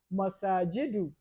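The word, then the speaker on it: مساجد: We pronounce it as masajidu without the tanween.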